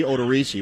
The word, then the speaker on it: Odorizzi: Because I thought I heard members of the Twins radio network call him Odorizzi rather than Odorizzi, which I think is awful if that's his real pronunciation. It should be Odorizzi.